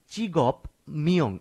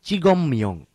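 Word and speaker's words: 직업명: চিগপ মিয়ং চিগং মিয়ং একটি জিনিস লক্ষণীয় এখানে আমি চিগপ মিয়ং এভাবে বলছি না চিগম মিয়ং অর্থাৎ বিয়োপের পর যদি মিয়ম অথবা নিয়ম থাকে বাচ্চিমের বিয়োপটিকে ম এর মত উচ্চারণ করতে হয় চিগম মিয়ং পেশার নাম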